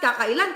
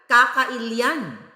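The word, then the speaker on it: kakailian: niya sa mga kaka it's not kaka Ilan kahit hindi Ilocano would you pronounce it kaka ilan kakailyan dah ang dami kong mga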